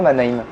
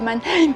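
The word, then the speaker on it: Mannheim: fait engueuler parce que ça se dit pas ma name ah oui les abonnés nous ont dit que ça se disait manhe on m'a dit il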